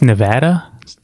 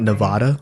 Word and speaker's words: Nevada: And you know it's Nevada? Not Nevada. Right. Yeah, you gotta say Nevada. Because I have half of my art team is in Reno. I always say Nevada, and they're like Nevada.